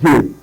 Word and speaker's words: gaol: Now that word is not "gaol" or "goal." It is called "jail." That's another way to spell "jail" J A I L.